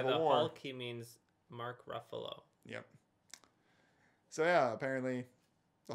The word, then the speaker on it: Ruffalo: Mark Ruffalo rhymes with Dark Buffalo.